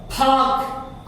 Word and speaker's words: park: आप यहां पे आइए, देखिए ये पार्क लिखा है, पार्क, पी से शुरू है तो ये पी क्या बन जाएगा, थ, फाक, और आपका साइलेंट हो जाएगा, फाक, फाक, फाक, फाक, फाक, फाक।